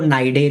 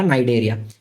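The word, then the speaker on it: Cnidaria: उसको नाइडे भी बोलते हैं। सी साइलेंट रहेगा नाइडे।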